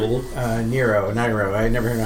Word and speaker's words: Nyro: Nyro. I never know how to pronounce it.